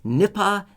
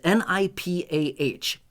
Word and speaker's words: Nipah: All right, so this is called Nipah virus. Maybe I'm pronouncing it incorrectly. It's n i p a h.